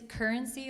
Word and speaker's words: Curensea: It's currency, like money, currency, like. Okay. But it's spelled CURENSEA. That's why I'm having. Like curated sea of art.